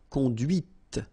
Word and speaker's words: conduite: And that's when you hear the difference between conduit, because remember, final T is not pronounced, conduit, here, and then the feminine, conduite. Okay, so here you can listen to this t, t, okay, conduite.